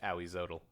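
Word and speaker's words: Ahuizotl: for this whole camp it's actually pronounced howiezotl close enough sure sure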